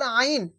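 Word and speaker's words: عين: তো এই হা আর আইন, এই দুটো অক্ষরের মাখরাজ একই জায়গা, সেটা হলো কি? হালাক বা কণ্ঠনালীর মধ্যখান হইতে, এই যে গলার এই মিডিল থেকে উচ্চারণ হয় এই আইন আর হা।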